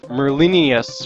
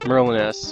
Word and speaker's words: Merlinius: the story with Dark Merlinius, or whatever the hell his name was. Comment on the last video said I mispronounced Merlinus, and it's supposed to be like Merlinius, and like the Veniginians or something dumb.